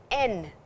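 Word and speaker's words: 円: two horizontal bars on the stem and is pronounced as N in the language.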